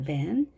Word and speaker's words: van: van. 자, 먼저 v가 왔습니다. v도 마찬가지로 위에 앞니를 아래 입술 위에 대고 발음하는 거기 때문에 이렇게 표현하겠습니다.